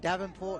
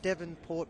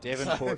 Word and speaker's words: Devonport: sorry to all the devonport people because i it's been made apparent to me that i was saying davenport in that first half it's your melbourne yeah